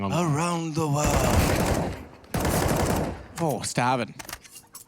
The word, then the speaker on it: stavn: Oh, Stavin. Apparently it's pronounced like it's a silent B. It's like a stown, you know? Stown. It's almost like the U. Yeah. Like Chvrches, the band.